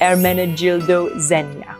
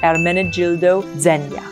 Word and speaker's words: Ermenegildo Zegna: And in English, or well, in Italian, it's pronounced Ermenegildo Zegna. So the G is a J, Gildo. Ermenegildo Zegna.